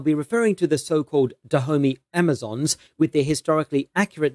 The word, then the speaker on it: Dahomey: naniska and nawi note I will also be pronouncing the commonly used name the homie as dahome since it is actually a French word derived from an earlier word in the fond language so I'll be using the French pronunciation it's unclear exactly when